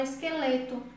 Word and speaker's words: esqueleto: Assim como na palavra esqueleto. Esqueleto eu pronuncio U, porém se escreve com O.